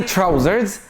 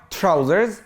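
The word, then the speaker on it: trousers: طيب بنطلون يعني تراوزرز، تراوزرز، تراوزرز. بص النطق بتاعي تي مع الار، تراوزرز، تراوزرز.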